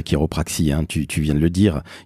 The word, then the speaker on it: chiropraxie: s'écrit chirop RA XIe ça s'écrit chiropraxie et ça se prononce qui reprit et pourquoi Charlène parce